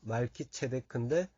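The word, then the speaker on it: מלכי-צדק: 체데크는 멜기세덱에서 말키체데크예요. 원래 발음은 말키체데크인데 이 체데크가 공의 이런 뜻입니다.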